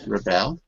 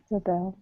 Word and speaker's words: rebel: working it's very slow okay there's Rebel Rebel the verb and here Rebel is a noun there you can see how the stress shifts whether it's a noun or a verb okay so Rebel is